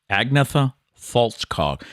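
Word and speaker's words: Agnetha Fältskog: I was interested to see how you were going to pronounce that name. Oh, really? Yep. But I'm impressed. Agnetha Faltskog.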